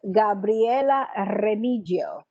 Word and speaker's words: Gabriela Remigio: So let's proceed and let's call right now Gabriela Remigio. Gabriela, am I pronouncing your name correctly? Perfect.